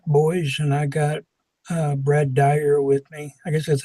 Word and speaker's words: Dyer: with him fat boys and I got Brad Dyer with me I guess that's how you pronounce it that's right ok and we're going